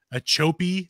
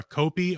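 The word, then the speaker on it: Ochopee: And there is actually an official skunk ape headquarters in, oh God, how do you pronounce it? Achope, Florida, or Achope, O-C-H-O-P-E-E, Florida, is where the official skunk ape headquarters is at.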